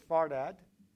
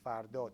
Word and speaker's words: Fardad: Okay, so it's Fardad. That pronunciation, native pronunciation is Fardot, but when I speak English, I call myself Fardad too. So Fardad it is.